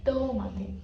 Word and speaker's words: tomate: Não existe, não existe o som o e no espanhol, tá? Então, tomate, tomate, tomate. Tomate é pra baixo.